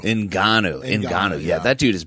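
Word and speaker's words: Ngannou: wait how do you say francis's last name enanu enanu inan yeah that dude is badass the Predator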